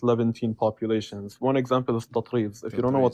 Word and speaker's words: Tatreez: One example is tatriz.